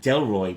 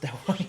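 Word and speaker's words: Delroy: he's incredible he plays a chap called Jack deloy which is a lot easier to pronounce it's not pronounced dely no deloy deloy deloy deloy this because he have a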